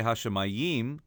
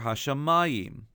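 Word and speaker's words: השמים: In this case, we don't say Hashemayim, but rather Hashemayim. And so to tell us that, they've added a duplicate trope mark, a duplicate Pashta, on the mem. So we sing Hashemayim.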